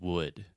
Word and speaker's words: wood: like but it's just wood so this is the other u sound and it's just the uh sound like push should could look book wood Etc okay perfect okay